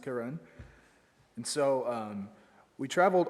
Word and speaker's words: Karen: so my portion is the karen tried it's spelled like karen but it's pronounced karen and so um we traveled all morning and